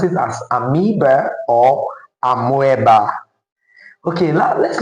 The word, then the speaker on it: amoeba: That word is actually pronounced amoeba and not amoeba.